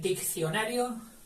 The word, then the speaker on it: diccionario: Hasta aquí suena dic, que es una sílaba. Y ahora viene otra, que es cio. Otra sílaba, rio. Diccionario. 4 sílabas, pero partidas así, de esa forma, Diccionario. Y la primera C, ya sabéis que tiene fonema de K.